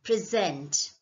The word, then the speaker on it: present: present okay so you the only difference is with the way you stress okay present you stress more on zen present in the second case it's a gift the first one is well you want to show you want to present right the second one is a sort of gift okay present present so try to focus on where the stress is present when it's